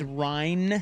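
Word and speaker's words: Ryne: Someone's saying I have a bunch of Ryan Samberg Donres cards. And that is true. Oh, and by the way, just note notable notation of note. It's Ryan. Ry, not Ryan.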